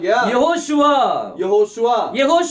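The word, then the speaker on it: יהושע: எழுத்து சேர்க்கும் போது இதுவா இந்த வாவினுடைய உச்சரிப்பு மூணு விதமா உச்சாரிப்பாங்க அப்படின்னு சொல்லி சொன்னேன் ஒன்னு ஓ இன்னொன்னு இன்னொன்னு சோ இப்ப இதுல நம்ம ஓ யூஸ் பண்றோம் ஏன்னா பைபிள் அப்படித்தான் யூஸ் பண்ணப்பட்டிருக்குது இந்த மூணையும் நீங்க சேர்த்தீங்கன்னா வந்துட்டு பாருங்க யெகோஷுவா அர்த்தம் என்னவா கர்த்தர் என்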